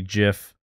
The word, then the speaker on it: GIF: It's like a nice 1980s vibe, kind of Blade Runner, you know, with a hard G GIF.